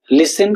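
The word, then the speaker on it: listen: ऐसे ही silent T, लिसन, castle, फासन, लिसन इसे हम फास्टन बोलते हैं, ऐसे नहीं बोलते, फासन बोलते हैं इसे।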